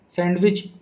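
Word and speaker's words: sandwich: सैंडविच, सैंडविच में D silent होता है।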